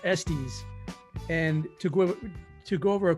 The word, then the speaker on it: Estes: And we have our special guest today, Don Estes, pronounced Estes.